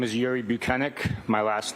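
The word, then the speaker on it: Bukhenik: My name is Yuri Buchanan. My last name is spelled B U K H E N I K.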